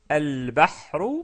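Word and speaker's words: البحر: Il devient al-bahru, al-bahru, parce qu'on a déjà vu que la lettre ba est une lettre lunaire.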